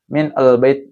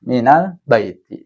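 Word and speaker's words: مِنَ الْبَيْتِ: Kalau enggak nanti susah bacanya min al bait. Nah, min al bait atau gitu kan enggak enggak enak gitu. Maka si nunnya dikasih harakat fathah kemudian disambungkan ke huruf atau kalimat setelahnya minal baiti seperti itu.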